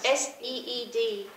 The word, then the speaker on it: SEED: Northwest E, did I hear? Northwest Seed. So that's S-E-E-D. Oh, Seed.